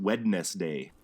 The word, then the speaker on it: Wednesday: Well, if you think about it, like most people don't pronounce it Wednesday. No. Everybody says Wednesday. Whenever I have to spell it, I pronounce it in my head Wednesday so I can spell it right. Right. There's that first D that everybody ignores now, but see that Wednes, that was originally Wodnes, as in Woden.